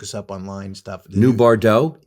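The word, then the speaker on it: Bardots: Stuff new Bardaux. Bardos. Like Bridget Bardau. Yeah, sure. But it's spelled Bard Dots. B A R D O Ts.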